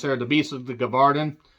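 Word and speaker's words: Gévaudan: The Beast of the Gavardan. Or Gavardan, I think is actually how it's said.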